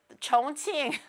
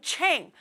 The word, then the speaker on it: Chongqing: Chongqing. It's not even Ching.